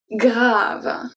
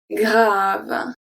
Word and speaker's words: grave: So when you have a G at the beginning, follow either by R or by L, it's going to stay as a hard G. So we have grave, grave, grave, grand, grand, grand, un